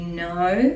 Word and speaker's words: know: empty handed and you know that I know so and is like n again and you know you know the k is silent and you know that